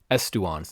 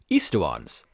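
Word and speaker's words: aestuans: And that's how the song is pronouncing it, estuans, instead of what I think should be eastuans.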